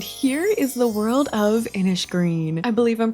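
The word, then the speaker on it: Innisgreen: And here is the world of Inish Green. I believe I'm pronouncing that right. I said it the other way last time and everyone corrected me. So, I think it's inish green with like a sh.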